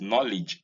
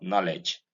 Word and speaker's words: knowledge: This is knowledge, not knowledge. The E in knowledge is E, not E.